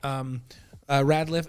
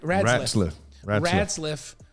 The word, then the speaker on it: Ratzliff: And then you've got Radliff. Am I saying it right? Ratzliff. Who Ratzliff, right? Ratzliff.